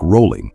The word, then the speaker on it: Rowling: under the pen name JK rolling pronounced like rolling her name when her